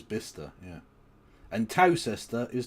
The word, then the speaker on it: Bicester: Yeah, but Bicester is Bister, yeah.